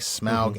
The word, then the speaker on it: Smaug: I I saw how AU was supposed to be pronounced and I've been saying smog ever since.